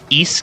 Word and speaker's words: Ys: It's taken from the East Games which is spelled YS is what I keep my background music on and hopefully it's not too loud.